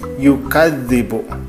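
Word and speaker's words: يُكَذِّبُ: Nah, misalkan di sini ada contoh yukadz, ada penekanan di situ ya, yukadzibu. Nah, dibacanya jadi yukadzibu. Saya ditekan di kadznya itu.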